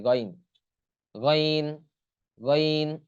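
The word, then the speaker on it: غين: যদি এক নুক্তা থাকে তাহলে সেটা গইন হয় গইন গইন গইন এরপর আছে ফা ফা টা এরকম দেখতে হবে উপরে এক নুক্তা থাকবে তা উচ্চারণ কি হবে ফা ফা ফা হ্যাঁ উচ্চারণ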